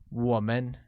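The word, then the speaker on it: 我们: and see the break-up us translates to woman pronounced with a falling rising tone on oh let's take a look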